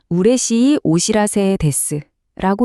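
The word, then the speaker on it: 嬉しいお知らせです: 우레시 오시라세데스라고 읽어요.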